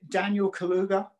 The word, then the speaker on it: Daniel Kaluuya: I hope I pronounce his name right. Is it Daniel Kaluuya?